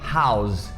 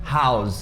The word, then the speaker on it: house: E outra palavra famosa também que segue essa mesma regra é house. House, que é casa, não é house, a gente não tem esse E no final. Então house.